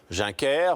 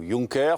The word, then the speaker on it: Juncker: européenne que voici Jean-Claude juner ou Junker selon les prononciation va proposer a proposé